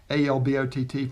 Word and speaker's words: Albott: which I shot earlier i pronounced the name wrong it looked like abbott to me but it's 8 lb ott alb ott forgive me for that